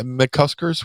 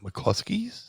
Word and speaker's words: McCusker's: bar right yep yeah mccusker which is the most mispronounced bar ever uh people like to put an L in there people like to call mclusky mlus uh I've seen